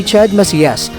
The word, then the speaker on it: Chad Macias: Mga Kakwento, ang tamang pagbigkas po nito ay Chad Macias. Babasahin daw natin ito sa wikang Espanyol dahil ang kanyang mga magulang pala ay nagmula ito sa San Sebastian, Spain.